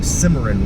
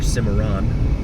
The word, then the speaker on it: Cimarron: Crossing Cimarron Road now, or Cimarron, I've heard it pronounced both ways.